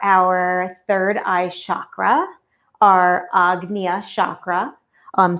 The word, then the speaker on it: Ajna: So, today I'm using for our third eye chakra, our agna chakra, um, spelled ana or ana. Ajna spelled a but pronounced agna.